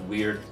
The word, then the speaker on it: wyrd: here on the screen it looks like wire or word almost but it's pronounced weird and it encompasses a